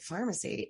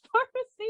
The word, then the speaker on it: Farmasi: Most people are probably being like pharmacy. It's It's spelled Farmasi. Not to be confused with the company at Sephora that's also pronounced Farmasi.